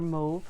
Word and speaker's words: mauve: foam with the Moody mauve or move I guess depending on where you are is how you say it so this is